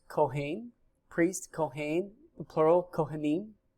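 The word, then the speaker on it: כהן: The word priest is pronounced kohen, priest, kohen, the plural kohanim.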